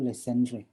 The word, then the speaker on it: Legendre: kita sebut dengan persamaan legendre eh bersamaan Legend foto-foto ini apa namanya orang Paris sini halpah Hai Ni Perancis orang Perancis Mekel tidak salah bacanya itu Lesti Andre jadi kita bahas sekeper